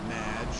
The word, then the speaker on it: Madge: It's Madge, which rhymes with badge.